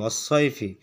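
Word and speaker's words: والصيف: এখানে এরপর এখান থেকে ছদ লিখবো আমরা এভাবে অসাইফ ইয়া এরপরে ফা এই যে অসাইফি উচ্চারণটা হবে কি অসৈফি সদের উপরে তাসদিদ সদের উপর জবর এখানে ইয়া ইয়ার উপরে জজম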